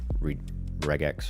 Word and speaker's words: regex: It's it was just way easier to just for right now just use the regex or regex or however the fuck you say it. Hard G. Regex, deal with it.